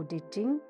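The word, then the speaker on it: Tao: लाजू इसे द ड इसका स्पेलिंग है टी एच ई टी ए ओ बट एंड इट is pronounced at द ड द लिटरली व कहते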